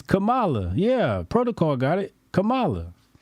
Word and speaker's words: Kamala: one is it Kamala Indian people say Kam KLA kamla okay ask Google man hit the Google Thum don't they have a Google pronation hold on let me it's Camala yeah protocol got it